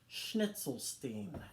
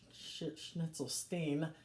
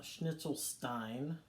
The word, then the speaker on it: Schnitzelstein: name is Chatsworth Von schnitzelstein and it is pronounced schnitzelstein no schnitzel Stein schnitzelstein and Bon Appetit